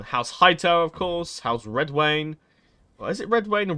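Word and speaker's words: Redwyne: Hightower of course how's Red Wayne or is it redwane or red wine no I always gone from Red Wayne because the Y is sort of it's like a Wayne it's with Game of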